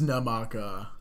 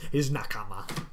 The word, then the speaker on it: nakama: His namaka. His nakama. I pronounce it horribly.